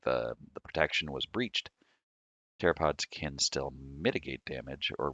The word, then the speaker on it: pteropods: Pteropods the P is silent, are small swimming snails with thin, delicate calcium carbonate shells.